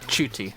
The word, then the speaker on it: Ncuti: Oh, I don't know how to pronounce it. Yeah. Chuti, right.